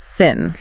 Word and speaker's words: sim: And words ending in "m" make an "n" sound. So, the word for yes, sim, spelled s i m, is actually pronounced sin.